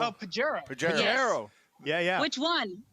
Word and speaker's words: Pajero: Padero? Oh, Pajero.